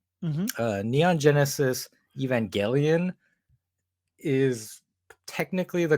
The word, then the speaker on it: Evangelion: I know it get gets pronounced both ways in the Japanese the way it's written it's Evangelion so that I feel like that's just how it should be said but you know and